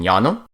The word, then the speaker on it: llano: A double L is pronounced like a Y, such as in llano.